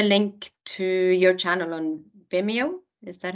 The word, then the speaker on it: Vimeo: and also the link to your channel on Vimeo is that how you say it yeah on